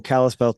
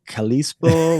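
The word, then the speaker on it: Kalispell: When you start out by saying, "Are you in Callispel today?" I know you're Montana because everybody else would like Kalispo or how do you say that?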